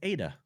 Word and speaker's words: Ada: Oh, it's Ada. That's spelled A-D-A.